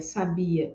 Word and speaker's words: sabia: é um traço distintivo se você observa essas três palavras sábia sabia e Sabiá percebe que nada além do acento em cada uma das sílabas é que vai trocar o significado de cada uma dessas palavras então em português nós